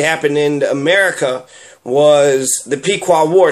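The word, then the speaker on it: Pequot: the pequa war and it's spelled differently it's p e quu o t but it sounds the exact same pqa pqa same thing so is it possible that the pequa you know of Massachusetts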